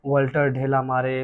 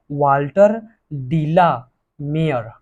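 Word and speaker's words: de la Mare: इसको बहुत सारे लोग अलग अलग, बहुत सारे बच्चे अलग अलग वाल्टर ढेला मारे, कोई क्या क्या बहुत सारा बोलता है, बट ऐसा नहीं है। उसका सही प्रोनाउंसिएशन कीजिए, वाल्टर डीला मेयर, वाल्टर डीला मेयर, इसका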